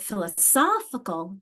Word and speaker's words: philosophical: But philosophical, there's that strong. Christina's circling that one. Philosophical. So my strength has moved from that second syllable in the to the third syllable in the philosophy to philosophical, our strength.